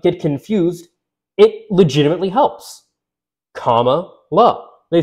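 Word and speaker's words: Kamala: confused it legitimately helps comma love they said you say comma like like you're doing a comma like you know in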